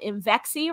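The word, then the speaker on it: Imvexxy: that's a branded product called inxi rhymes with I'm sexy why because we help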